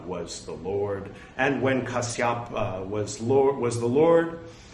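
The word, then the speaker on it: Kassapa: the lord and when kasyapa was lord was the lord we learned at one point that kasyap was the proper pronunciation i'll say was the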